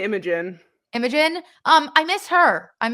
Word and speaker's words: Imogen: I say Imogen.